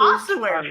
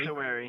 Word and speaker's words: ossuary: In the, I don't know how to pronounce that word, but I am not going to use the one Garm uses. The ossuary. Ossuary.